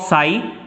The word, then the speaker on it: psi: साई से दिखाते हैं, PSI, साई है ये, P साइलेंट है यहां पर।